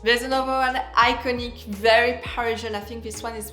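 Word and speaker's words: Parisienne: most Parian perfume of all the name is Parisian by if so pronounce Paran you really have to pronounce the ER in this one so Parisian I love this perfume this is a fruity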